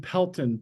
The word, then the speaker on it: Pelton: can you please pronounce your last name and spell it oh it's uh Pelton p l t o n thank you